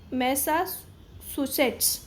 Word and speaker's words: Massachusetts: इसको प्रोनाउंस करते हैं मैसाचुसेट्स।